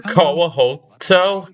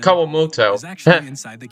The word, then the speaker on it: Kawamoto: Kawoto. My current location. Kawamoto. I was pronouncing it wrong.